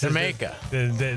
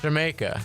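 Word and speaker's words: D'yer Mak'er: Jamaica. It is. Yeah. Because you're supposed to say it like the way a British person would say like Jamaica.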